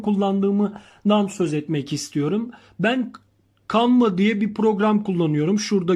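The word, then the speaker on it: Canva: söz etmek istiyorum ben kanva diye bir program kullanıyorum şurada gördüğünüz gibi okla gösterdiğim yerdeki yazılışı canv okunuşu canadır arkadaşlar ve şimdi küçük resmimizi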